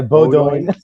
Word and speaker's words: Beaudoin: third round pick, Cole Beaudoin. Am I saying that right? And, I think Boudouin. It's French. Boudouin? Something, yeah, something French. Say it like an American. It's Beaudoin. Yeah, Beaudoin.